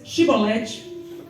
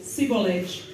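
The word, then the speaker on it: Chibolete: E dizendo ele, não, então lhe diziam, dize, pois, Shibolete. Porém ele dizia, Sibolete, porque eu não podia pronunciar assim bem.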